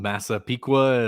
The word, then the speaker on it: Massapequa: I guess he is from Massapequa. Is that how you pronounce where he's yes, from?